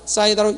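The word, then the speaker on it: 쌓이다: 소리는 똑같이 납니다. 이때 신은 묵음으로 납니다. 그래서 싸이다, 싸이다로 읽습니다.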